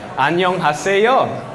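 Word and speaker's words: 안녕하세요: So if we break it down syllable by syllable, this is probably a bit too loud. 안녕 하세요. Right, say it with a bit of sass, you know. So just put it together. 안녕 하세요.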